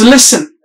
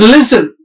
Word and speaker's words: listen: i s t n the word is listen listen so this sound is s here but people have pronounced it in in the southern area they pronounce it as listen Z that's some other sound that we use in Zebra z sound is different but here it is